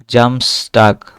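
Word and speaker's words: Samstag: এস বর্গের জ এর মত উচ্চারণ হবে।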